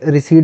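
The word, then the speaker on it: receipt: यहां पे रिसीट बोलते हैं इसको। आर ई सी ई आई पी टी रिसीप्ट P silent होता है इसमें रिसीट इज़ द मनी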